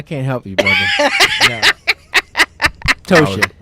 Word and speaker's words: Ptosha: Oh, Lord, he called me Ptosha. Did I say it wrong? I always say it wrong. Help him out, Rahim. Help him out. I can't help you, brother. No. Ptosha. Ptosha. The P is silent.